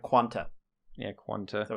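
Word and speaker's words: Qan[T]: i'm here to help it's pronounced quan with a t at the end yeah uh for real it's pronounced quanta yeah quantum so it's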